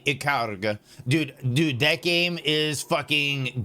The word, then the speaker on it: Ikaruga: I'll pronounce it correctly. Ikaruga.